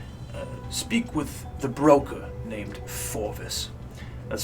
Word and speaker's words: Fjorvis: Speak with the broker named Forvis. That's spelled Fjorvis.